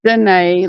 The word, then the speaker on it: Janae: Pronounced Janae like Forrest Gump.